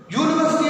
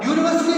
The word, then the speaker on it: university: U sound it is not the vowel sound.